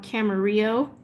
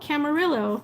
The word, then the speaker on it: Camarillo: it was hilarious because i'm from a town called camarillo with a silent elves but everyone out here is like oh camarillo like no let's do something from